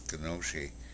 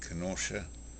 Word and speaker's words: Kenosha: Kenosha. That's how it's said. But they call it Kenosha.